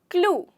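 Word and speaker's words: clue: वो इसलिए नहीं होता क्योंकि यहाँ पे हमारा वर्ड ई जो है वो साइलेंट हो जाता है, वो पूरी तरीके से साइलेंट हो जाता है, इसलिए हमें कैसे बोलना है? क्लू।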